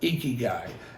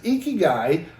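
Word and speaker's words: ikigai: He said, I'm going to be talking about uh, Eeky Guy.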